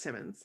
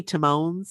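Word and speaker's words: Timmins: Is it Timmons? Is that how you say it? Timmons? Yeah, I always wondered. I'm pretty sure it's Timmons. I always want to say Timones, like Timon and Pumbaa. But there's 2 M's there.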